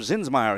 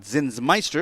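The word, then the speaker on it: Zinsmeister: leading off will be rob zinsmeyer he'll play at uh center field at zinzmeister if we want to say it correctly spatting second is the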